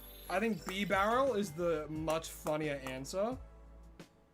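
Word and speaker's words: Bibarel: Cuz he's a barrel. He's floating in the water like a barrel. That's why he's a normal type. B barrel.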